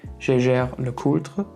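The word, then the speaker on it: Jaeger-LeCoultre: can tell you that I would pronounce the brand name Jeager-LeCoultre, but there's a slight problem because Jeager is actually a German name, so Jäger, which means hunter, but as it's a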